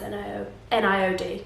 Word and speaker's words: NIOD: It may be pronounced NIOD, but I say NIOD, so deal with that.